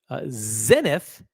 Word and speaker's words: Zenith: of the moment OC Zenith I I'll pronounce it the French way Zenit doesn't even make that